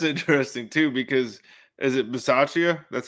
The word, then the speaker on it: Bisaccia: That's interesting too, because is it Bisaccia?